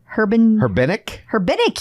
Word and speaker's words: Herbenick: How do you pronounce her last name? It's Herbenick? Herbenick, yes. I think you are correct.